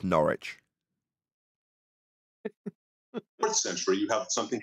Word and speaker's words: Norwich: Okay, this is after in the Pronounced Norwich.